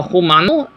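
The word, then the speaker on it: Jumano: in the Mexican dialect we pronounce J's as H.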